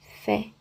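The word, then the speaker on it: פ: Então o primeiro é pé, mas o quarto é fé, ra fé. Ok? Porque como ele não tem um dagete no meio, ou seja, não tem um pontinho aqui no meio, ele será pronunciado um f.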